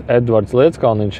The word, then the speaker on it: Edvards Leedskalniņš: Earth also, because the Ed Leedskalnin, which is Edvards Leedskalniņš in our pronunciation, which was a Latvian, he went to